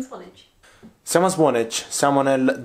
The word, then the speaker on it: Swanage: How is the pronunciation? Swanage.